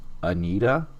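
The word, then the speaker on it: Anitta: last time number nine and this one's weird it's spelled a-n-i-t-t-a which is that just anita yeah was one of the first 10 names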